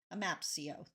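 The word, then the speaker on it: AMAPCEO: work with amap CEO a mapio a mapio that's how they pronounce it which used to be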